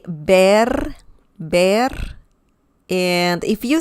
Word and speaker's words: ver: spanish lesson is about bear bear bear okay uh remember the v sound in spanish is similar to the b as in bell in english so you need to say bear bear and if you